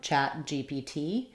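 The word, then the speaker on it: ChatGPT: last letter sound so the same rule would hold for um chat GPT where the GPT is stressed on the T we might have some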